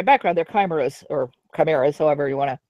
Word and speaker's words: chimera: their primer is or chimeras however you want to pronounce it I think chimera is correct and crime arose from my